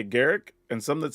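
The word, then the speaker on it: Garruk: to my knowledge everybody at Wizards even I says Garrick but for some reason in the public people still say G and I don't know why that is but there's also people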